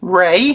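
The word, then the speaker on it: Wray: That is for my last name, Ray, which is spelt with a W-R-A-Y.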